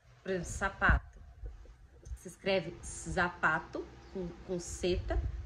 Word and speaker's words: zapato: não têm no espanhol, o som que eles têm é o som igual do S. Então é, por exemplo, sapato. Se escreve zapato, com seta, né, que é o Z, mas se pronuncia sapato, ok?